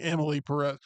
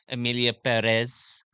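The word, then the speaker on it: Emilia Pérez: content but to also disgrace you for putting Emily Perez no for absolving me from my mispronunciation I should have worked on it like everybody at the Golden Globes last night that is correct Amilia Perez you sound like Andy Kaufman when you do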